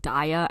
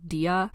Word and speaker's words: DIA: i only just found out today that it's pronounced daya and not dia and also you would be lying if you